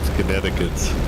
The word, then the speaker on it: Connecticut: do my best because I know that the C is not pronounced but I don't know about the so a French French friend of mine uh said Connecticut in aure your way